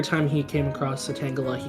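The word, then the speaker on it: Tangela: pm7 and was like how do you say this Pokemon's name and he was like tangala and he was like I thought it was T jelly and pm7 was just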